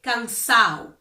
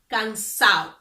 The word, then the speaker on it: cansado: Or, for example, if they want to say cansado, which means tired, they will say cansado, cansado, without pronouncing the D.